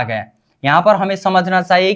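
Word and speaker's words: 삼: 10 plus कितना 2, 3 को बोलेंगे क्या सम बोलेंगे, 10 को क्या बोलेंगे सिप, 2 को बोलेंगे ए, उच्चारण सम, ठीक है सी।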